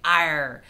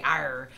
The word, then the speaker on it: EIR: of fun to say iron I'm not sure if I'm pronouncing it right they say it's like air with a softer a sound so if I'm